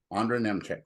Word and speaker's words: Ondra Nemcik: I'm your host, David Cohen, and I'm really pleased to have this week's guest with us, Ondra Nemcik, right? I'm pronouncing that right?